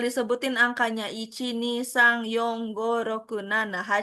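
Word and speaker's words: 四: kelas berapa gitu kan kalau 4 itu dibacanya yo bukan yong kalau 9 itu bacanya q gitu G ya.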